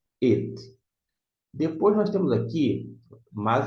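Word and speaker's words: אֵת: Ele está aí só para isso, mas ele não se traduz, não. It, mas se pronuncia. It.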